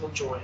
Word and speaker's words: Lajoie: Jim I think Carrey, it's pronounced LaJoy, guys.